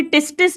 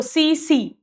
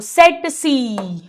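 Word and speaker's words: tsetse: एक मक्खी है, इसे टिस्टिस नहीं बोलते बेटा, या तो दोनों टी साइलेंट करो सी सी, या फर्स्ट टी साइलेंट करो सेट सी। आप टिस्टिस भी बोल दो चलेगा, अपना कौन सा ओरल एग्जाम है ठीक है।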